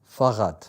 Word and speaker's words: Fahrrad: I think it's Fahrrad. Fahrrad, yes. Am I pronouncing it right? Yes, very good. Yes. Fahrrad.